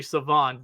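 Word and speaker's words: Shavon: And then you have guys like Savon Rell. It's actually Savon that the H is silent.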